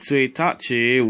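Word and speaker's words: 一日: It's pronounced tsuitachi when the 1 is in front of the symbol for day, even though neither of these symbols have these pronunciations.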